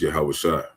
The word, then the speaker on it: Yahawashi: His name is Yahawashi. Okay? That's how you say it in in ancient Hebrew, the lash.